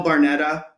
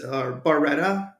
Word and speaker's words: Barretta: I mean, as my opinion of the whole thing, the characters going in this, we had Bill Barnetta. I believe that's Barretta, I believe is how you pronounce his name.